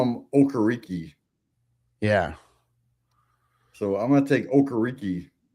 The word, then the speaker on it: Okereke: I call him Okereke. Yeah. So I'm going to take Okereke. Yeah, I think it's really pronounced carrot cake.